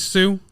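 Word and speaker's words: Hsu: balance Stephanie is crazy how do you say her last name shoe shoe I watched the scene with her it is Sue yeah I watched the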